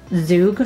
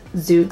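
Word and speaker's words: Zhoug: i think it's pronounced zug sauce i don't know i looked it up because i wasn't sure what it was or how to say it but i think it's zook sauce um it says a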